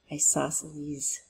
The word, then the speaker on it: isosceles: I have to always see that C is silent. Isosceles triangle.